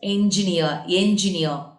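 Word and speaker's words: engineer: இன்ஜினியர்னு சொல்லக்கூடாது. என்ஜினியர் phonic sounds தான் நம்ம ப்ரொனவுன்ஸ் பண்ணணும்.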